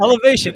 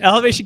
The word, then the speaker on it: Elevation: including MHC America evolation C evolation EV EV pronounce El yeah no it's a hard elevation elevation Capital group in jrb communities and so much